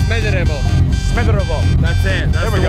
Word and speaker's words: Smederevo: You know, this is the town of Smederevo in American English way, but actually it's Smederevo.